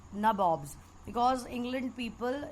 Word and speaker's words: nabob: So these people, they were called nabobs, because England people in English pronunciation, they used to call Nawab as nabobs.